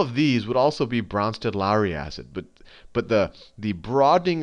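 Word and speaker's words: Brønsted: don't know the correct, I always say just Bronsted, but if you don't have fancy fonts, it's spelled like this, Bronsted Lowry acid or base, and I'll say, if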